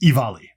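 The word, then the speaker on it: Offaly: Sorry, I had to look at the notes because it's not at all how it's spelled. It's spelled like this, and it's pronounced Ivali. Now, I get it. It's Irish. Whatever. So, Ivali, County Ivali.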